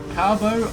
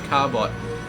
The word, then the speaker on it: Carbot: And he's got a cool little carbo icon. I think it's Carbot. I always want to say Carbo because, you know, the silent T is just really sexy sounding word, but I'm pretty sure it's Carbot.